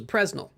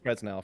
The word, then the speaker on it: Presnell: it's uh I think fresnel for sure Double L yeah well the emphasis is apparently on the second syllable president and I I